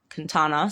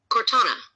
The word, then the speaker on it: Cortana: Queen Meta, let's go back to Quintana, sorry. How do I say her name? Cortana. You can say it like Cortana.